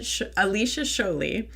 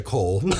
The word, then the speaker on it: Sholey: So you're referring to Sholey, which I was calling Cole.